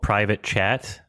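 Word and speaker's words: PVT Chat: budget movie from 2020 called private chat it's spelled pvt space chat and is that the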